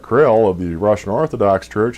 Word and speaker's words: Kirill: Patriarch Kirill (pronounce it like k' RILL) of the Russian Orthodox Church had scheduled his own New World visit to coincide with that of the Pope.